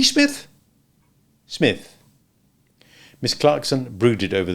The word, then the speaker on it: Psmith: The name is Smith. P. Smith. The P is silent. P. Smith?